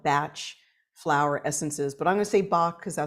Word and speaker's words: Bach: named Edward Bach and the correct way to really say his name and you'll hear it from those really uh profound and focused uh practitioners especially in the UK they'll call it batch Flower Essences but I'm